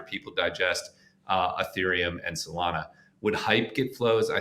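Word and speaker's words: Solana: It's a hop to get to Ethereum and Salana, which Tradfi will pronounce Salena or whatever.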